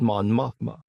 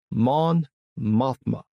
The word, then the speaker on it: Mon Mothma: First, let me start with Mon Mothma. Man Mothma. I've been mispronouncing this woman's name the whole time.